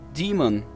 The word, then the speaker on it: daemon: que realizam essas operações o termo Diamond que em inglês pronuncia-se Demon é uma palavra grega